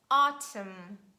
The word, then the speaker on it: autumn: is letter n and letter n is silent after letter m at the end of words it's so logical it's